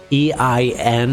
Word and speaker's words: ein: Actually, technically, I think I've been saying it wrong anyway, because I think EIN is pronounced "ein" in German, so I don't know.